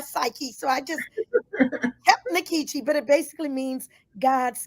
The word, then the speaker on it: Nkechi: in like Kuma and the E had the a sound and all that jazz and I try to pronounce it the way it would be pronounced if I were ebo in Nigeria but nikichi had just kind of